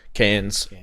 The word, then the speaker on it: Cairns: Cairns? Cans. Yeah, like I've now got family in Cairns. what you get your peaches out of, I mate. know. That thing. That's how you pronounce it.